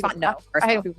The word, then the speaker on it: Fontenot: The girls that were eating me alive, they said, Fontenot. Actually, it's because I'm married. Yeah, and then they didn't even say your maiden name right. It's Fontenot.